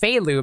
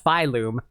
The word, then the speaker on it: Phylum: They're also really bad at pronunciation, because I'm pretty sure it's pronounced Phalum, not Phylum.